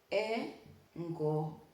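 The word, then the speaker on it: engokho: And remember what I told you about KH? Ho. Some people find it really hard to pronounce this, but if you're Luhya, if you're Bukusu, this is something that is very simple for us.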